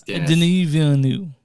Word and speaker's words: Denis Villeneuve: I know it's Denis Villeneuve.